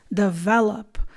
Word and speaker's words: develop: to say it is develop the stress is on the second syllable so you say develop